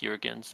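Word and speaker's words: Juergens: deal her name Molina J I guess it's urans it's with a J but oh okay you know Jurgens but I'm sure it's pronounced urans but anyway uh she yeah she did won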